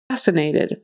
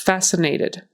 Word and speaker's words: fascinated: you have on versatile fascinated fascinated forget the c in there it's silent it's just fascinated fascinated sure sure that